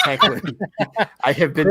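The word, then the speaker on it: Hoechlin: Chris, okay, I say Hoagland. I say Hoagland. It's Heckland.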